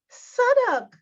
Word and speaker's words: Southwark: Oh, them all holler out. You mean Suddock? Suddock, me say.